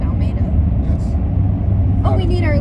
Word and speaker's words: Almeida: The E comes first. I've been saying your name wrong for a year. So has the rest of America. Say it, May. Almeida. Not like May. Say like the month May.